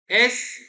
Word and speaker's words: est: S is it, S, S for Surat, S for Switzerland, remember only S। Spelling देखोगे तो EST और C, लेकिन दोनों को पढ़ा जाएगा S।